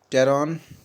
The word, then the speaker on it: Pteron: एक है टेरॉन, PTERON। इसमें जो P है ये साइलेंट रहता है।